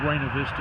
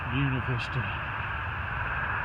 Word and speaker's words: Buena Vista: Starting this leg between Daleville and Buena Vista, and that is the way they pronounce it in Virginia. I realize it's Buena Vista everywhere else in the world, but here in Virginia it's Buena Vista.